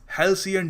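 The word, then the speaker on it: halcyon: जी हाँ, इसको प्रोनाउंस करने का सही तरीका है हेल्सियन डेज।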